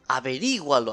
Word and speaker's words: averígualo: Averígualo, acento en la I.